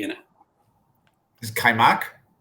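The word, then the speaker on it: kajmak: me a hint um there's a weird j in it that you that's there's a weird silent j in it is kaimak correct all right how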